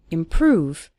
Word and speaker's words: improve: seeing your English improve stress on the second syllable improve over time you'll start